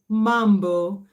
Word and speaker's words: mambo: Next time you see a Kenyan or a Tanzanian say mambo. Mambo.